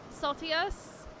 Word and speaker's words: Saltius: Before I forget, my name is pronounced like salty, except it's with an E. Saltius.